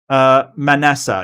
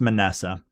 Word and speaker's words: Manasseh: Manasseh. Yep, that's right. So it's pronounced Manasseh.